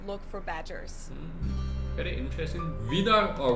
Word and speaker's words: Wiener: In German, we say Wiener. The German W is pronounced like an English V, Wiener.